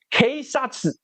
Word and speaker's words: 警察: In Japanese it's read as — keisatsu.